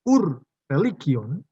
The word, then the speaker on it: Ur-Religion: Yang pertama disebut dengan ur-religion, ini bukan bahasa Inggris, maka membacanya ur-religion, dan religio naturalis.